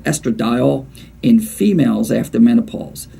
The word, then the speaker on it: estradiol: you also want to look at something called estradiol in females after menopause it's spelled e-s-t-r-a-d-i-o-l okay so females after menopause estradiol you want